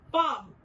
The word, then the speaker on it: palm: The third example is L plus M. The word is palm, where again L remains silent and the alphabet M is prominent.